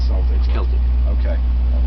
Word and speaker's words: Celtic: And one of the questions I always get in an argument with friends of mine is it's pronounced Celtic, not Celtic? Celtic.